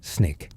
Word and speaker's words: SNCC: The students organize themselves into the Student Nonviolent Coordinating Committee, SNCC, pronounced SNCC.